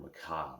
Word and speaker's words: macabre: Because you see the word, you'd never heard it before, but then I wonder, how does that spelling, like A-B-R-E, how does that rhyme with job?